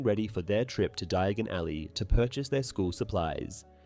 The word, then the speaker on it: Diagon Alley: In the film adaptation, due to mispronouncing Diagon Alley as Diagonally, he mistakenly arrives at Nocturne Alley.